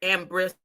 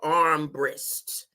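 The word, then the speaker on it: Armbrister: And this same civil rights activist, small lady with a big mouth, Ambrista, arm, if we want to say it right, the Armbrist, had a lot to do with the history that I'm about to show too.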